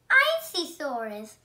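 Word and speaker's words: Isisaurus: This dinosaur is a Icysaurus. I'm going to tell you how to pronounce it. I-C-S-A-U-R-U-S. Icysaurus.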